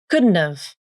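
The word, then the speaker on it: couldn't've: First, the initial H consonant in have is dropped. Then, the a vowel in have is reduced to the schwa a.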